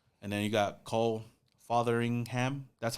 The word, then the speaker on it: Fotheringham: And then you got Cole Fotheringham. That's how you say his name. Fotheringham, I guess so. But I feel like the tight end room is solid as well. Fotheringham or Feringham?